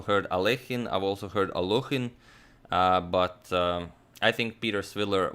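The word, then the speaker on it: Alekhine: Well, most Americans will pronounce it something like Alakine. I pronounced it like that a long time ago, but in the original Russian, I believe it's Alechin.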